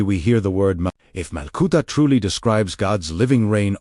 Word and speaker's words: Malkuta: Before Jesus speaks about seeking first Malkuta, pronounced Malkuta, meaning the divine reign, the living presence of God within, he spends an entire section talking about fear, anxiety, and trust.